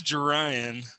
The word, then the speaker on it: Jarion: I was looking at it, I was like, is it Jarion or Jarion? It's Jarion. Jarion.